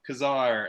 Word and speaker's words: Ka-Zar: Today we're going to be reviewing X-Men number 10, which is called The Coming of Ka-Zar.